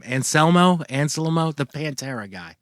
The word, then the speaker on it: Anselmo: Anselmo, the Pantera guy. Anselmo.